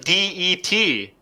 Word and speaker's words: debts: The B is silent. It kind of sounds like DET.